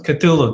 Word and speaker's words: Cthulhu: future reference is pronounced okay cool ooh Oh Cthulhu yes Cthulhu that's the right pronounce in pronunciation okay thanks for that okay